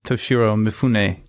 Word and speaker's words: Toshiro Mifune: Well, we should also say that you get to watch the great Toshiro Mifune, that's how you pronounce his name.